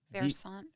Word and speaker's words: Versant: So, How do you pronounce that? It's Versant Power? Versant.